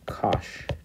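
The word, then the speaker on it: cosh: these things what are what we pronounce is cinch tea and kosh tea and they are what are called the hyperbolic sine and hyperbolic cosine and by definition they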